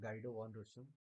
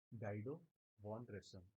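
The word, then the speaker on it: Guido van: गाइडो वन इनका नाम बहुत प्यारा है। याद रखिएगा गाइडो वन इसको हम वैसे प्रोनाउंस कर रहे हैं। आप लोग की इच्छा लोग श्रद्धा जैसे प्रोनाउंस कर लीजिए।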